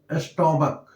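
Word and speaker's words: stomach: पलल बनाया जाता है जैसे स्टमक अब इस सी का उच्चारण क है इसलिए इसको हम स्टमकस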